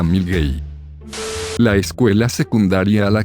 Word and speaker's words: Milngavie: Milngavie se pronuncia Milgate.